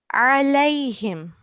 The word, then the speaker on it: عليهم: So I would just like to highlight that we have an ayn here. So we yeah, have to make sure that we pronounce it from our throat. Okay? yeah. Alayhim.